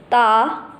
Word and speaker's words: de: So DA has a pronunciation of Ta, Ta.